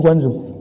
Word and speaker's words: Guangzhou: Benar bacanya Guangzhou.